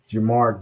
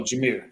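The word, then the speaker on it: Jahmyr: Leading rusher was Jamar Gibbs. Is that how you say it? Yeah, Jamar Gibbs, 11 carries, 68 yards, 1 touchdown. Oh, Jameer. I'm sorry. Yeah, Jameer.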